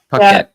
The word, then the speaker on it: Paquette: How do you pronounce it? Pocket? Pocket? How do you say it? Pocket.